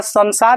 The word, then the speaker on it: संसार: जाएगा गलत हो जाएगा तो इसका उच्चारण न भी होगा म भी होगा समझ रहे हैं ना